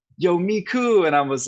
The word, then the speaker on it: Micu: when did this brand I'm so what's the pronunciation of it Miku oh I can explain that story too yeah